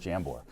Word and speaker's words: Jambor: You know, it actually used to be Jambor with a Y back in the day, but it is Jambor. So you got it right, yeah.